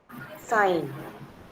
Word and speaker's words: sign: Sign. Sign. Yeah. G is silent. But when we say signature, we pron we put emphasis on G.